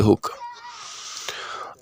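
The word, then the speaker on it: Hooke: Scientist का नाम है रॉबर्ट हुक। अब रॉबर्ट हुक का स्पेलिंग अगर देखोगे तो आपको लगेगा सर क्या लिख रहे हो, हुक होता है ना, रॉबर्ट हुक।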